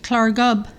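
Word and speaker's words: Llareggub: huge the fictional Village clarb this is pronounced with a Welsh accent in under milk wood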